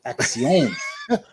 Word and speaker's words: Akxion: Akxion. Akxion. That's right. Check out my Instagram. It's AKXION. It's Action.